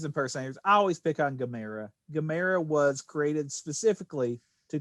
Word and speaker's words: Gamera: this big turtle monster and what's the correct pronunciation again i think it's kamera it's gamera cameron thank you for that i don't know